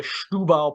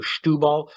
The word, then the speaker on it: Setúbal: But this is from the Setúbal Peninsula. Do you know I'm pronouncing that correctly? So Setúbal is ja, das stimmt.